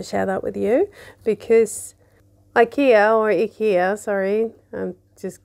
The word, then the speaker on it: IKEA: joy and that is ikea or as we say in sweden ikea that's how you pronounce it uh i have bought some little things and i wanted to share that with you because ikea or ikea sorry i'm